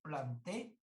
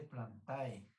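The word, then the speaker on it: Plantae: es que fue utilizar plantel pero acostúmbrense a pronunciar plante no se dice planta continúe es un reino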